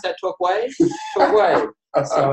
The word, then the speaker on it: Torquay: When I first met Arron, my first mention to Arron to come down to Torquay, he's like, how do you pronounce that, Torquay? Torquay.